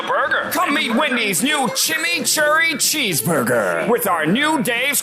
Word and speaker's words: chimichurri: Come meet Wendy's new Chimichurri Cheeseburger with our new Dave's Craft Lemonade.